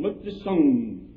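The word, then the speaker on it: Mao Tse-tung: Look to Sung. That's the way you pronounce that queer fellow's name.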